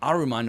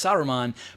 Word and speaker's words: Saruman: you're watching the movie, people keep calling him Aruman, like, well, his name's not fucking Aruman, it's Saruman, but then like they'll slip up and say it correctly from time to time.